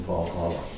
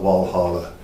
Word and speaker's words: Walhalla: there were more than 400 germans living in valhalla or walla it's still pronounced we call it walhalla europeans would say that's okay in 1865 a